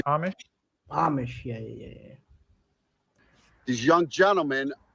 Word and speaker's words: Amish: Pronounced Amish? Amish, yeah.